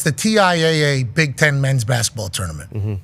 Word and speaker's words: TIAA: is saying oh Tia Tia okay yeah we're pronouncing it wrong it's Tia Tia men's tournament uh is